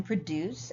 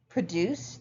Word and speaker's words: produce: Produce, the verb, is stressed on what we call the second syllable, whereas the noun produce is stressed on the first.